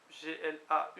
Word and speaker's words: glau: Guarantet do erfa lamzer, or bléad ag or goué, strewet glau, G-L-A-U avec accent, je dis glau. Oui, en plus c'est glau, très bien, oui, qu'on voit parfois écrit G-L-A-W, d'accord.